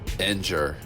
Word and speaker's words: Ngr: And it was pronounced Ngr, spelled N-G-R. There's no syllables in the Kemetic language, so that's how this was pronounced.